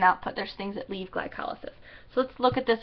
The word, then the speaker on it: glycolysis: Glycolysis, glycolysis is how it's pronounced.